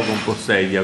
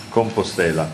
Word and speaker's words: Compostela: Santiago de Compostela o Compostella, come si Compostela. Dice? Compostela. Il campo delle stelle. Sì, sì, no, era la pronuncia il dubbio, perché è con un L sola, quindi...